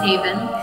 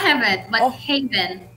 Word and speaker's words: Haven: your name um haven my name is haven ava not heaven can you tell how